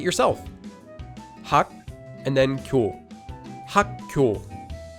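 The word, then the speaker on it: 학교: by a base consonant, the second base consonant will become pronounced like a double consonant.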